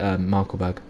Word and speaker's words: Markkleeberg: I pronounce it Markkleeberg.